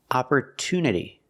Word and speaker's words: opportunity: TU is not pronounced with each sound it's pronounced with a t sound Opera two opportunity there are a lot of examples where t